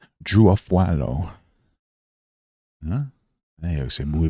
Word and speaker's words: Afualo: Afualo? How do you pronounce it? Drew Afualo pronunciation. Drew Afualo. Drew Afualo. Ooh, it's Drew Afualo.